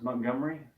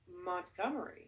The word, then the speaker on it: Montgomery: It's about how you pronounce Montgomery. The way I pronounce Montgomery? You might want to try saying Montgomery. Montgomery. Montgomery. Montgomery. No, it's 3 syllables, not 4.